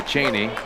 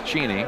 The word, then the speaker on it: Cheney: in Tacoma here a lot of people say Cheney but of course the proper pronunciation is Jeannie Jeannie yes and they have the same problem